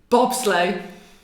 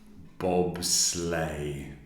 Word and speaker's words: bobsleigh: Bobsleigh. Bobsleigh.